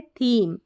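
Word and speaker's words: theme: यहां पर है थीम अब इसको थीम मत पढ़ देना क्योंकि ई साइलेंट है थीम फिर देखिए अब इसको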